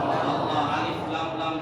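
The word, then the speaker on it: الله: সে আরবি হরফগুলি কি? আলিফ লাম লাম হা। বলে তো দেখি উচ্চারণ কি হলো? আল্লাহ।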